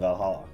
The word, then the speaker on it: VA-11 Hall-A: fan tourism hotp spot name sounds silly and a bit hard to pronounce good thing it's actually called valala the funny numbers and